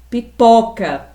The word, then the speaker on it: pipoca: Então o O da palavra pipoca é uma vogal aberta.